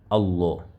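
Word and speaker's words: الله: Dans ce cas-là, le lam de la majesté va se prononcer Allah, Allah. Regardez, je vais vous donner des exemples comme ici, on a Tallahi, Tallahi. Ici, dans ce cas, la lettre Ta qui précède a une fatha. Conséquence, le nom d'Allah va se prononcer avec lourdeur. Donc, on va dire Tallahi, Amrullahi, Amrullahi, Allahu.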